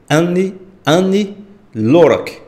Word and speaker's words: Ani Lorak: eu não estiver errado a pronúncia correta é ane ane lock o céu da rússia